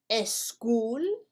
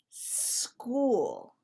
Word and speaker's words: school: you say es school you should say school remember in english we do not use the letter a or the sound a to as a help to pronounce the letter s so we don't say es school we say school we have a lot